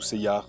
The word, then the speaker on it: Seiya: On dit Seiya ou Seiyar et pas Seiya.